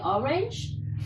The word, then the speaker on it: orange: Just the pronunciation is different. In English, we say orange.